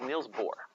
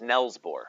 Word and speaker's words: Niels Bohr: His name is Niels Bohr. Actually, it's Nels Bohr, if you actually say it right. It looks like Neil, but it's actually Nels Bohr.